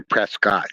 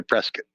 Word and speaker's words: Prescott: You can't say Prescott. You have to say Prescott. Otherwise, the people from Prescott will get mad at you.